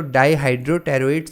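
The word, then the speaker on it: dihydropteroate: ठीक है, इसमें P साइलेंट होता है, तो डाईहाइड्रोटेरोएट सिंथेज एक एंजाइम है, ये क्या करता है, उसके साथ बाइंड कर देता है।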